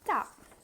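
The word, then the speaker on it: ت: And now we're going to learn letter Ta. We pronounce it like T.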